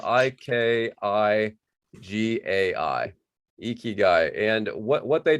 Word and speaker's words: ikigai: you may have heard of the concept called ikigai before um it's a it's a japanese concept